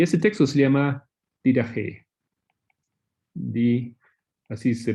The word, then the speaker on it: Didache: Y ese texto se llama Didache. Así se pronunciaría, ¿no?